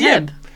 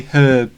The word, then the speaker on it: herb: I'm something I get heb. I think he's accidentally dropped. I don't know what he's done there. We definitely say herb. Herb. I mean, yeah, we definitely pronounce it off 100%.